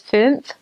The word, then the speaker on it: fünf: So anyways, that sound, ooh, with like an E on the inside and like an ooh on the outside, fünf. It's really hard to pronounce.